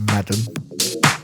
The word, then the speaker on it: MADM: I think it's pronounced Madam.